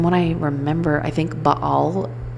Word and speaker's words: Baal: And from what I remember, I think Baal just so happens to rhyme with a Hebrew word for like shit or flies.